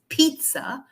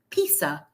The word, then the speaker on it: pizza: a lot of people outside of Italy they don't pronounce it as Pizza they pronounce it as Piza but that's not right because we have a city called Pisa in Italy as well I'm sure